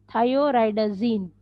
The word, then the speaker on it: thioridazine: The pronunciation of this derivative is thioridazine.